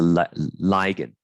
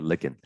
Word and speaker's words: ligand: This is a ligand, okay, or ligand, depends how you want to pronounce it.